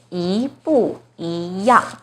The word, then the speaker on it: 一不一样: Now the first 一 is followed by a fourth tone, 不. So the first 一 itself should be the second tone, 一不一样. So problem solved. This phrase is pronounced as 一不一样.